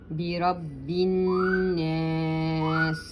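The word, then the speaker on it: بِرَبِّ النَّاسِ: Bi Rabbin Nas. Now here this alif, this is called the joining hamzat wasl. You don't pronounce it.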